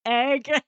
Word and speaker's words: Egg: name and he's like, "Guys, my name's Egg. You've been saying it wrong this whole time. My name's not Ed. My name is Egg."